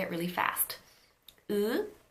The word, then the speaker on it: 의: 의, 이, 의, 의. That's how you get 의. Now this is the standard pronunciation of this diphthong, 의. You pronounce the ư and the e in one shot.